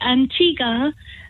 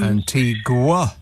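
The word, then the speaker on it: Antigua: man rang up about why Antiga does not is not spelled like it sounds Antiga yes and I was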